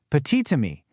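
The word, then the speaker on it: petit ami: Well, if petit is followed by a word that starts with a vowel like ammy, that silent t suddenly jumps back to life to link the words.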